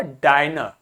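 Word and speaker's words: diner: तो अब शॉर्ट नहीं आया अब क्या हुआ डाइनर अब क्या हो गया डायर ठीक है तो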